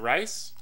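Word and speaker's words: Reis: Before we start, though, shout out to Katie Reese. Is it Rice? Katie Rice. Katie Rice? Mm-hmm. It's R-E-I-S, though. That's how you pronounce it.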